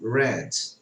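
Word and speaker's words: read: um verbo ler então no presente eu digo reis no passado eu falo red witch dress ok aí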